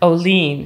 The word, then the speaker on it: Olien: it i just found that out actually it's pronounced olean here oh lean yeah okay i'm canadian so you can blame